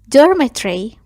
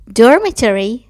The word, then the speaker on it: dormitory: به تلفظ خوابگاه دقت کنید. dormitory یا dormitory. هر دو تا تلفظ درسته. dormitory تلفظ بریتیش هست. dormitory تلفظ امریکن هست.